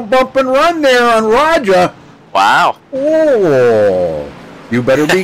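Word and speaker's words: Rajah: Raja. Yeah, okay. Raja Caruth. Sorry. Yeah, like almost like you would say Roger, only say it Raja. Just with the accent, yeah.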